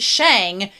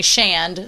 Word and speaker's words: Shang: It's the In Chinese it's Shang, but it's usually pronounced as Shand in a lot of the subtitles.